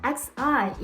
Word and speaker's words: 习: To pronounce the syllable xi in Mandarin Chinese, we need to push the tip of our tongue against the root of our bottom front teeth and arch up our